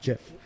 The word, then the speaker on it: GIF: gift cause it Jeff he says it's pronounced jiff I think I don't